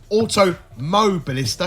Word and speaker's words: Automobilista: So Automobilista, because apparently I kept missing the Mo. So I'm going to emphasise that going forward.